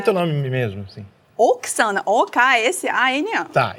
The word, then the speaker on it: Oksana: O nome dela não tem tanta graça quanto eu achei que teria, é Oksana, eu achei que lá tinha uma outra pronúncia, mas Oksana, muito prazer. Prazer todo meu. É Oksana mesmo aqui e lá, né?